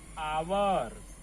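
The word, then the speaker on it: hour: फॉर 3 आवर। क्या लिखेंगे? आवर। लिखते एच है, पढ़ते आ है। एच साइलेंट हो जाता है।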